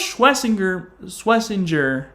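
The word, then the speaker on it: Schwesinger: And, of course, Schlesinger, that's how you say it.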